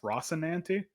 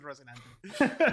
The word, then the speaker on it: Rocinante: How is it pronounced? Rocinante?